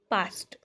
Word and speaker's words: past: कही देख which is the correct pronunciation of past correct pronunciation मागिची Etah just आपन को मन रखिबार अछि ओके एटा रहउछि आपनकर ऑप्शन नंबर ए past ठीक अछि सो the correct pronunciation of past ends with a a or t sound because the base verb pass ends with a voiceless consonant sound s ठीक अछि आपन को